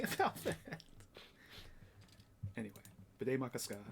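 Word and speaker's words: Bde Maka Ska: So it became Bidet Makaska, which I always remember because it sounds like bidet and has ska in it.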